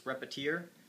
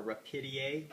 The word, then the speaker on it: Repetier: And so we recommend that you use Repetier or Repetier, whatever you choose to pronounce it as.